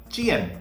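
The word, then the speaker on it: 见: or to see you will say Chen Chen fourth Stone and if you want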